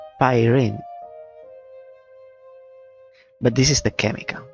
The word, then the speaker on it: Pyrene: What I wanted to check is, can we get the pronunciation? Pyrene.